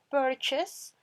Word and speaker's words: purchase: El hospital, ese purchase es un sinónimo del verbo comprar, ¿listo? Purchase, miren, esa UR suena como E, hacen como una E muy cerrada, como con boca de O, pero hacen sonido de E.